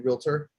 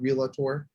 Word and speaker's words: realtor: used to be a realtor by the way do you guys know what's pronounced realtor not really tour so i had this